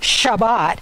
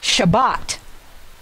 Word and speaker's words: Shabbat: the word Shabbat shot in Hebrew it's the last syllable that gets the emphasis so it's not Shabbat it's Shabbat so when you're reading Hebrew